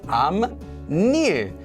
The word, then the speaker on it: 앞일: 앞일, or the future, in front of days, which becomes 암일.